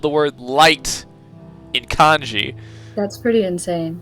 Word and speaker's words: Light: They somehow spelled the word light in kanji. That's pretty insane. Yeah. It is pronounced as the English word light.